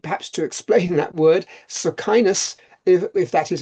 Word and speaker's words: Socinus: Socinus, if that is how it's pronounced, Socinus was a Polish theologian of the